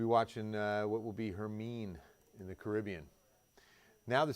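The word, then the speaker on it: Hermine: and I know it it looks like Hermione uh Harry Potter fan um but I looked at the National Hurricane Center pronunciation guide and it says her mean so I'm gonna go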